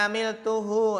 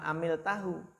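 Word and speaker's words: عملته: Jadi bukan amil tahu, tapi amil tuhu, kan ada ana.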